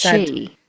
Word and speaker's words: Sith: They are mainly called the she, which is the fairy folk. How's that spelled? S I T H. Sith. Yeah. But pronounced she.